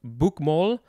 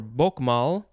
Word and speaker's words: Bokmål: Next is, I think it's pronounced Bukmal or Bokmal, capital B-O-K-M-A-L, and then the A has the little circle over it.